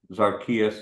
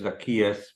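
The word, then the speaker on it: Zaccheaus: I like even though I said his name wrong zarchias Zacchaeus but I remember him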